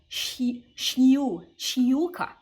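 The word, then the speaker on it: щука: when I realized that the vowels after sh are going to get a small Y sound in front of them, okay? So a word like pike, shiuka, you really should be pronouncing it as like a shiuka, okay?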